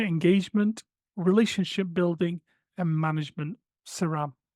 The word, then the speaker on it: CERAM: relationship building and management saram so you can see the pronunciation there and this is a